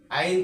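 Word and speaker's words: ع: নিবেন তাহলে আইনের উচ্চারণ আইনের উচ্চারণ একটু চাপ দিয়ে পড়তে হবে আইনটা একটু সুন্দর করে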